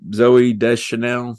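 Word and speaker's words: Zooey Deschanel: ends up being Buddy's friend in the movie Zoe de Chanel I guess I pronounce that right that's right you got it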